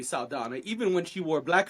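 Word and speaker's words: Saldaña: was about to say her name is not Zoe salana her name has always been Zoe saana even when she wore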